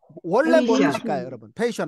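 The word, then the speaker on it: patient: 중요합니다 여러분 왜 볼까요 페이션트인데 트가 거의 안 들린다 그랬습니다 nt는 할 때는요 그래서 너무 발음 잘하시네 페이션 하면 인내 참물성이 있느니라는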